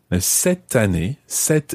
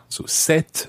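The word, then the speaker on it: cette: becomes an apostrophe because it's followed by evil set is spelled c-e-t-t-e that means this for a feminine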